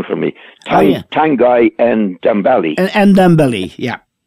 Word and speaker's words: Ndombele: he had a right go at, you can pronounce the lad's name for me, Tanguy Ndombele. Ndombele, yeah.